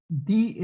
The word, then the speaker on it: die: Die es el artículo femenino, como decir la. Die, se escribe D-I-E, pero se pronuncia die.